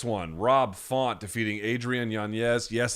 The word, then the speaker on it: Yanez: Rob Font defeating Adrian Yanez. Yes, it is pronounced Yanez. There is an N-Y over the N. He doesn't pronounce it that way. You can say Yanez if you want. Doesn't matter. 257 of round one.